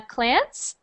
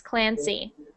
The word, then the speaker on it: Clancy: So when you were reading, I only heard Clance. So just make sure you pronounce those Y's, Clancy.